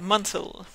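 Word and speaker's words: Munsell: Euh point euh qui euh qui nous qui a attiré notre attention euh c'est le fameux code Monsel. Si euh c'est bien comme ça qu'on prononce. Exact. Oui. Le code Monsel.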